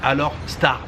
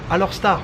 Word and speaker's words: Alor Setar: D'ailleurs, je dis Alor Setar, puisque ici les gens disent Alor Setar. Ça s'écrit Alor Setar, mais Alor Setar, ça marche très très bien ici.